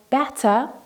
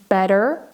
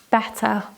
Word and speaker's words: better: We don't pronounce that t as a r, we pronounce it as a t sound, and we don't pronounce the r at the end. So better, better.